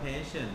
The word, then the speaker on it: patient: นะ ครับ เจ็บ ปวด Patient อ่าน ว่า passion นะ ครับ Pion แปล ว่า คน